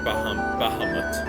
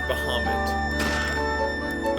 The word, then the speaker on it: Bahamut: When I was a kid, I said Bahamut, but it's Bahamut.